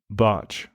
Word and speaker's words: Bartsch: Yes, that's CAP Barge.